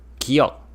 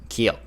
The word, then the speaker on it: 기역: This letter sounds similar to G in English, but it can be transcribed as either G or K. Both kimchi and gangnam both begin with 기역. Here we will write it as G at the start of a syllable and K at the end of a syllable.